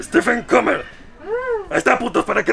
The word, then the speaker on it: Steffen Kummerer: Steffen Kummerer. ¿Qué? Steffen Kummerer. Stephen Comer.